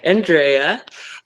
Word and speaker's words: Andrea: So I'm with Andrea.